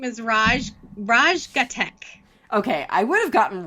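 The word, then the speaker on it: Raj Ghatak: you say his name his name is raj raj gatek okay i would have gotten raj right but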